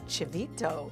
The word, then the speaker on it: chivito: including gorita island not to mention eating some chivito is that's how you say it yeah those